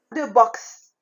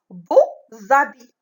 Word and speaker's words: beaux habits: On dit de box. Mais ici, beau, si je fais la liaison entre beau et habit, je dis beaux habits. Donc, X ici, il se prononce Z.